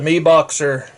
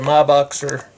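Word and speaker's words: MiBoxer: But my favorite charger for the 18650 batteries is the Mi Boxer, or the My Boxer, however you want to pronounce it. M little I Boxer.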